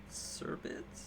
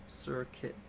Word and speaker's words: Serket: that run we got a shiny Serket? Serbit? What is it pronounced? Serket.